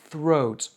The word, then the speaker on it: throat: Il faut bien faire la différence entre le se de qui est un vrai s et le th de throat. Un des problèmes de l'accent français, c'est qu'on a tendance à prononcer le th comme si c'était un s.